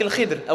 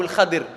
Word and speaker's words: Al-Khidr: La troisième, celle de Moussa avec Al-Khidr, ou Al-Khadir, on peut le prononcer de 2 manières.